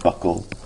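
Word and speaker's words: buccal: it's uh in fact I thought it was bual cavity for the longest time but uh but the the correct pronunciation proper pronunciation is Buckle f the fenial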